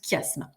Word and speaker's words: chiasme: si on était tous ensemble donc ça se prononce chiasme c'est une figure de construction au lieu d'avoir